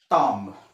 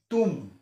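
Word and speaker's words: tomb: না হয় সুপার ইন্টেন্ডেন্ট টি ও এম বি টম টম না হয় তুম তুম বি টু সাউন্ড মানে উজ্জ্ব হয়ে যায় সাইলেন্ট হয়ে যায় আর তু এ ও তে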